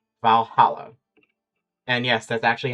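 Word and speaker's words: VA-11 HALL-A: playing a game called Valhalla. And yes, that's actually how you pronounce it. It's just the way they stylized the ones to replace the L.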